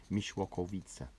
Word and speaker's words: Mieszkowice: You pronounce it Mieszkowice, and Karpniki is like a neighbouring village to Mieszkowice, as is Wojanów.